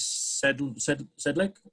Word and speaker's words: Sedlik: We're going to do a special presentation, item 4.1, Neighborhood Watch, with, and correct pronunciation of your name is Sedlik, is that correct?